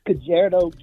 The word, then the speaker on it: Kajiado: Thank everybody that supported the African Island Church Girls Boarding School in I can't pronounce it. Reverend Solomon. No, what's the city? It's Kajiado, Kenya.